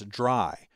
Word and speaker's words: DRY: is dry code now I'm always going to pronounce that as dry but it's actually three letters Dr Y which stand